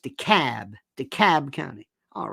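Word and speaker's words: DeKalb: County not deal de capital K lb is pronounced the cab the Cab County all right that's like when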